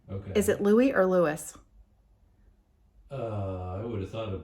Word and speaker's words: Louis: Lewis. Let's listen to that again. Robert Louis Stevenson. How did Robert Louis Stevenson pronounce his name? RLS was known as Lewis after his maternal grandfather, the Reverend Dr.